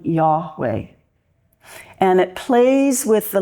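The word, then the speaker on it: Yahweh: Divine name name uh if we were to pronounce it which a Jewish person an observant Jew would not because the name is so holy we'd probably pronounce it something like yahwe and it plays with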